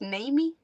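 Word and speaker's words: Naemi: aare Namy and Mina oh that's how you pronounce Namy wait spell it n a e m i that's not what I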